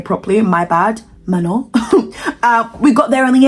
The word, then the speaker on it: Manon: Obviously, I didn't pronounce her name properly, my bad. Manon.